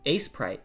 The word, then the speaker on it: Aseprite: but but uh oh aseprite aseprite is a great program I love that it's good it's quite nice quite nice quite nice Ace prite that's how it's pronounced Ace prite oh I always thought